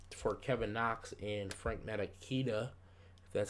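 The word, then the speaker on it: Ntilikina: we did trade for Kevin Knox and Frank maraquita that's how you say it and yeah we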